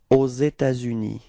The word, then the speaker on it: aux États-Unis: it's the same, okay, there is this liaison between this final S of État and then this U, okay, aux États-Unis, repeat,